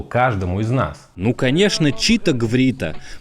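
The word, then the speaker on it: Chito-Gvrito: Ну конечно, читаврита. Многие произносят её как читарита, но это всё же настоящие слова, а не случайный набор букв.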